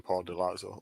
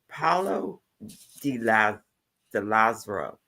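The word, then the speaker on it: Paolo Di Lazzaro: find any information on Paul Delazzo whatsoever. Have you, NJ? Yes, he pronounced it wrong. It's pretty much Paulo de Lazaro.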